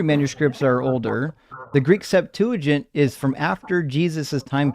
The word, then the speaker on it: Septuagint: Septuagint?